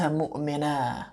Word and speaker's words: مؤمنا: But because it's the end of a bait of poetry, he's saying إذا كنت مؤمنا, right? Just leaving the alif without the fathatain being pronounced on it.